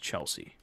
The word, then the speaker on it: Chelsea: let's uh Chelsea piano it's spelled CH e RR s ee but pronounced Chelsea alright first time I saw that title of the group name I was like sure see true see okay oh sure sure